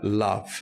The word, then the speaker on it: love: this typically happens with Words which have a letter O but it's pronounced more like an uh so in words like love I understand why it